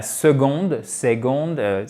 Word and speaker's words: second: La second, et non pas la seconde, non, c'est second, c'est bam, une accentuation sèche sur la première syllabe.